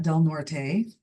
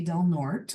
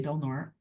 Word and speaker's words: Del Norte: And the smaller orange county just north of us is Del Norte County, which most people would pronounce that Del Norte. For some reason, we say Del Norte.